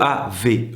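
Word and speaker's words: Aave: célèbre dans ce domaine c'est AAV donc ça s'écrit double a V e et quand vous déposez des crypto chez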